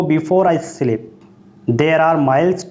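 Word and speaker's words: Scylla: और इसे बोल सकते हैं सैला, और एस इसमें साइलेंट है, इसमें बी साइलेंट है, ठीक है।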